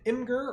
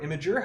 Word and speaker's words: Imgur: find a link to Imgur, or Imager, however you want to pronounce it, where you can download this for absolutely free.